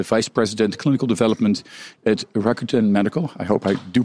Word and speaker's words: Rakuten: she is the vice president clinical development at Rakuten medical I hope I do pronounce that name the right way yes absolutely